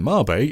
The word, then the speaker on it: Mabe: Outside of Mabe Village, and yes, I am going to pronounce it Mabe, it's Japanese, don't at me, the only other town in the game is Animal Village, which is so small.